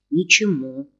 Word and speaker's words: Ничему: Ничему. В конце.